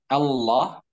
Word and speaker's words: Allah: Nah, diperhatikan cara mengucapkan Allah, A-nya tipis A, kemudian la.